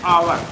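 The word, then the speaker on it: hour: का रहा है एन अवर अब यहां पे समझिए यहां पे और मैं आपका जो है हा क्या है भले हा से प्रारंभ हुआ है लेकिन उच्चारण एक्स साइलेंट है और ए से प्रारंभ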